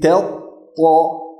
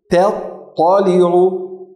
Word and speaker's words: تطلع: Allati tattali'u.